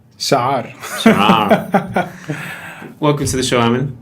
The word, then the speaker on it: Chaar: His name is Amin Chaar, or he's going to pronounce the Arabic way. Chaar.